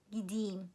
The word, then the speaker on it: gideyim: So the first person, ben gideyim, and it's written gideyim. It's pronounced as gideyim, ben gideyim.